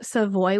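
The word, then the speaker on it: Savoie: I'm going to recommend to you is called seavoy it is sa a v o i e and that is the region that I'm talking about so this is a French wine and the region is called seavoy which means the wine is called seavoy uh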